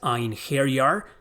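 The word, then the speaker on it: Einherjar: The warriors she recruits are known as Einhari. That's how it pronounced in the Norse mythology.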